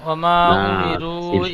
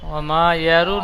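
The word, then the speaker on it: وَمَا أُمِرُوا: ওমা উমিরু ইল্লা ওমা ইয়ারু নয়, ওমা উমিরু বানান করেন। ও জবর ও জবর মিম আলিফ জবর মা, টান দেন, তিন আলিফ টান হবে। ওমা হামজা পেশ উ, হামজা অ পেশ উ,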